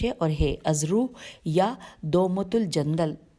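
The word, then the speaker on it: دومة الجندل: اور ہے، ازرو یا دومت الجندل، اس کی ہجے کرتی ہوں، دال واو میم تے ہے، دومت الف لام جیم نون دال، دومت الجندل میں جمع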